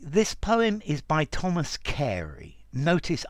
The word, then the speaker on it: Carew: Okay, this poem is by Thomas Carey. Notice, I know the name is written Carew or Carew, but it's pronounced Carey, the marvels of English pronunciation.